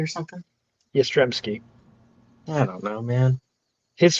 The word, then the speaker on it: Yastrzemski: Isn't it like Yastrzemski or something? Yastrzemski.